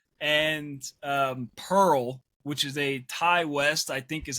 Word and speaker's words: Ti West: Cole and Pearl, which is a Ty West, I think is how you say his name.